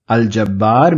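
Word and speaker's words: الجبار: us look at aljabar why am I pronouncing the L in Al Jabar if I'm pronouncing the lamb that means that J must be in the list of alphabets in and we identify in that list of alphabets therefore I will pronounce this as alj I'm not calling this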